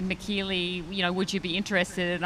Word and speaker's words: Michellie: It's like Michelle, Michellie, Michellie. It's Michellie. But, if you call me Michelle, I will definitely still talk to you.